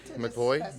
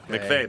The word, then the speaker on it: McVeigh: McVoy? I'm saying it wrong. McVeigh, that's right.